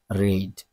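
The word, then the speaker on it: read: number রূপ কি হবে রেড দেখেন বানানটা কিন্তু একই কিন্তু উচ্চারণের ক্ষেত্রে এখানে একটু পার্থক্য রয়েছে এটা উচ্চারণটা হবে রেড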